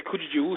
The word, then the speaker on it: Krzyzewski: How the hell does that mean, Krzyzewski? It means Kujijuski.